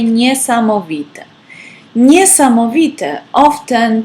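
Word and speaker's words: niesamowita: so we will say near some of it nee-sama Vita often pronounced with a lot of emotion like for example nisam Evita is amazing p.m.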